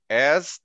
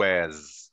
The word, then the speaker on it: as: para explicar bem o as, tá? O as aqui, essa preposição as deve ser pronunciada obrigatoriamente dessa forma, tá, gente? As, como se fosse um z, como se fosse um z no final, as.